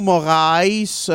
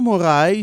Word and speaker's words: Moraes: Un combat de Marlon Moraes. C'est comme ça qu'on le prononce, monsieur? Ouais. Marlon Moraes Oui, contre Henri Cejudo.